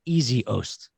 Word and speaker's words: Essihos: got the pronunciation and i wrote in parentheses next to your name e-a-s-y space o-h-s-t easy host oh smart oh my